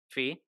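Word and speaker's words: Phee: because wait did I say her name right Fe Fe there we go thank you yeah yeah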